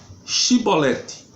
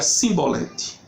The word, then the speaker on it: Shibolete: E dizendo ele não, então lhe dizia, dize pois, Shibolete. Porém ele dizia Simbolete, porque eu não podia pronunciar assim bem.